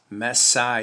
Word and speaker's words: Messiah: m e s s i alpha ah s messiah yes messiahs that is how john recorded this